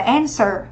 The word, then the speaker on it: answer: Trọng âm dẫn tới thứ nhất, mình đọc là answer, câu trả lời hoặc là trả lời.